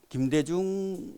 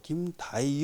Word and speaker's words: 김대중: 때요 그래서 인터뷰를 하는데 발음을 이제 김대중이라는 이름을 잘 못하고 김다이 뭐 이렇게 하는 거예요 그래서 우리가 화가 나 가지고 야 전화해야 되겠다 그래가지고 진짜 전화 그 발음이 그게 아니다라고 이야기를 해 줬는데도 뭐 고쳐지진